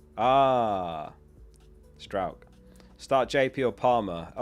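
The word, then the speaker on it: Struijk: It's pronounced Strout Strout. Okay, Strout, got it. Pascal Strout. That helps, thank you. It's pronounced like the ow in crowd, Pascal Strout. Ah. Strout.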